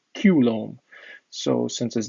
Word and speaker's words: Coulomb: of work on electricity if you pronounce coulomb with a french accent his name is actually kulom so since his name